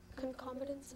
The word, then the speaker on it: concomitance: is not a this is not a plural concomitance am I saying the word correctly yes you are concomitance c o n c o m i t